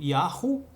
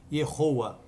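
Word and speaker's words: יהוה: yod rei vav rei cuja pronúncia é pré exílio yaho pós exílio yoa né yoa da onde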